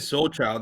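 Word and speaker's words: Sol Chyld: No, but I've seen that name before because when you said Soul Child, I'm like, oh, that's how that's pronounced. Because I've seen the name because it's like SOL and the child with the Y.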